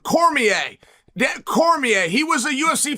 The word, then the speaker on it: Cormier: Apparently, he's like an equal partner in it, which I didn't know, but thank you for giving it's pronounced Cormier.